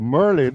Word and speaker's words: Merlin: See, Marlin is active. Merlin, I got to pronounce her name properly before she jack me up when I come to I know she she will.